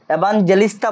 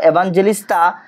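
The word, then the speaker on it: Evangelista: আর barometer আবিষ্কার করেছিলেন কখনো এভানজেলিস্তা বলা হয় কখনো এভাঙ্গেলিস্তাও বলা হয় এই জায়গায় জি কে জি হিসেবে উচ্চারণ করা হয় জি গো হিসেবে উচ্চারণ করা হয় আবার আমি বলব এভানজেলিস্তা টরসিলি এভঞ্জেলিস্তা টরসিলি উনি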